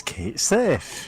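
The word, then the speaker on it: Cait Sith: And like, it's spelled like, and this is how, and it's the wrong pronunciation. It's Kate Sith, and it's like this has caused an international incident.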